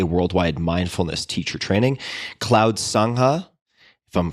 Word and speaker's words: sangha: include mmtcp a worldwide mindfulness teacher training cloud sangha if i'm pronouncing that correctly this is another word that